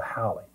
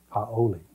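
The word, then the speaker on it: haole: refer to the white guy as as the holee and it's pronounced h o w l e e or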